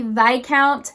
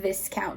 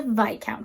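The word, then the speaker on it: viscount: as lords and ladies next up is a vi count that is how to properly pronounce it for many many years i was saying this count because that's how it's spelled but no it is a vi count so if you didn't know that if this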